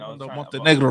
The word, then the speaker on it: Montenegro: I think we're saying that wrong, Montenegro. No, that's how you pronounce it, Montenegro.